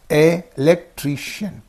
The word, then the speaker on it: electrician: Words ending in ian, ion, are accented on the syllable preceding the suffix. Okay, sixth one is there. Electrician. So ian is there. Ian is in these 2 syllables. Okay, and what is the syllable preceding the suffix means tree. Therefore, you say electrician, librarian. Okay, musician, politician. So at this on the red colored syllables, you must give stress.